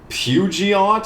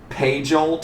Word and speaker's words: Peugeot: a Peugeot I think I think that's how you I think that's how you pronounce that when I was a kid I pronounced it like page alt or something I don't know where